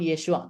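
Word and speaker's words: ܝܫܘܥ: Jadi Isa dalam bahasa Syriak itu disebut Yesua, Teman-teman. Ini bacanya Yesua, ya.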